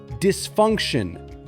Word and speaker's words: dysfunction: Then say dysfunction. Starting with d, add funk and finish with shun.